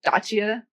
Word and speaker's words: Dacia: I'm like, "I do because of a spine doctor I had who didn't call me DEA because apparently it's pronounced Dacia."